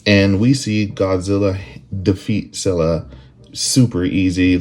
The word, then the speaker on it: Scylla: With our number 10, I'm going to put Scylla, or Scylla, Scylla. A lot of people say it different. I know it's from the Greek myth. I would probably pronounce it as Scylla.